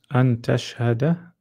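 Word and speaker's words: أن تشهد: An tashhada. We pronounce the ta. An tashhada because the ta has a haraka.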